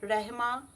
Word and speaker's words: Rahma: এরপর মনের ইচ্ছাটা বলার পর লিখে নিন রিয়া অ্যাসপেরা রেহমা নীতিকা।